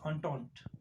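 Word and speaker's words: Entente: as triple undone so this is pronounced as untaunt okay with these two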